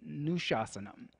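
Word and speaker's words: अनुशासनम्: Then anushasanam, anushasanam, because the word separated, the A is pronounced, but when yoga and the anushasanam come together, the second A is silent, so we sing it nushasanam, because it's a sandhi.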